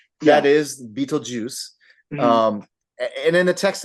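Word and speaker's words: Betelgeuse: like b t l geu s that is beatle juice um and in the text of the movie it's spelled that way and and people even even people mispronounce it they call them Beetle guys Beetle guys yeah for the longest time I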